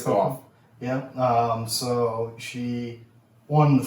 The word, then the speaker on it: Gauff: So I'm not 100% how to pronounce her last name. Gauff, I guess. It's Gauff.